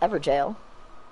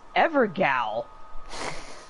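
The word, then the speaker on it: Evergaol: It's pronounced Everjail. Really? Yes. Well, my stupid brain was like, hey, I think it's pronounced Evergal.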